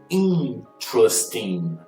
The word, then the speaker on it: interesting: Quando eu tenho esse apóstrofo here, ele quer dizer que a próxima sílaba é a sílaba tônica, né?